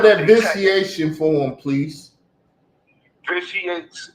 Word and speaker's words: vitiates: Vitiates is spelled Vitiates, and it's pronounced vitiates.